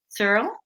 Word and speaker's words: Searle: Searle. Yeah. You got it second time. Searle. Yeah. Searle. Searle. Good. It's one syllable. That's maybe an easy way. So it's just one syllable.